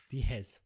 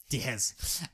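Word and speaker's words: Diehz: Diaz it's a Diaz but it's pronounced d it's spelled D I E HZ Dez Dez um yeah so this is based on a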